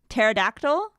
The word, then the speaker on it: pterodactyl: I was like the P is silent. Really? I did not know that. Pterodactyl. Is that how it's pronounced?